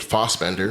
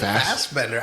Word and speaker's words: Fassbender: is it Fassbender or is it Fassbender? I say Fassbender. That's the first time I've heard it pronounced like that. Okay, maybe I'm wrong. I thought it was Fassbender. I think Americans pronounce it Fass, but I think I've heard him say Fassbender.